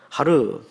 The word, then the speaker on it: Har: 원래 발음 은 "Ar" 가 아니라 "Har" 입니다 . 하르 .